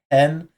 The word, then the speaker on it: 変: This can be ka. It can also be pronounced hen.